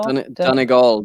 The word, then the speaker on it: Donegal: Is that how you pronounce that? Donegal? Donegal, Donegal, Donegal.